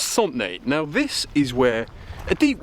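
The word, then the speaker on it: Santenay: Okay, so welcome to, well, it's pronounced Sauntenay.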